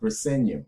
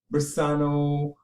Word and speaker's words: Briseño: Briseño, Brisano, Brazano, Bresno. Like, come on, just use your brains and your eyes and just pronounce, even if you just pronounce the word as it looks.